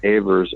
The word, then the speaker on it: Ewers: is Peter Evers, Peter, and then Evers is spelled Ewers.